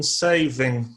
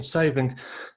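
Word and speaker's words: Sewing: this guy called Christian Saving, the W pronounced as Fee or something in German.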